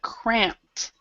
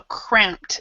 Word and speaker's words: cramped: pronunciation first we have cramped so this is a P and P and K will always have a t sound so cramped so this e is silent and there's a T sound cramped conditions yeah now no